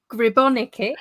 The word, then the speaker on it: Gribonika: Today I have got Gribonika.